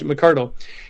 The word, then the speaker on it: McCardle: I was worried about saying his name wrong, but it's Scottish, McCardle.